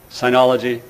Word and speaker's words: sinology: to my profession as sinology, and I don't like the sound of that. But it's actually a legitimate alternative pronunciation. Sinology, sinology. It is a kind of sin to do it.